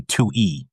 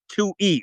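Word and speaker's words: Twohy: jump into it I did read how to pronounce Mr. David's name. It's actually Tui E. Tui E.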